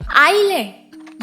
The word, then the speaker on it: island: जब इसे हम बोल रहे हैं आइलैंड। ये एस किसने डाला और क्यों डाला?